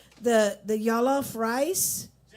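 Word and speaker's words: jollof: to make uh I'm not sure if I'm pronouncing it right. The the jalof rice.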